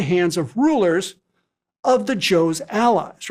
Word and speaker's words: Zhou: At that time, China was ruled by a dynasty called the Joe, spelled Z H O U in pinion, Joe.